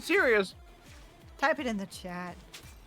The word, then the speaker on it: Sirius: Oh, they pronounce it serious.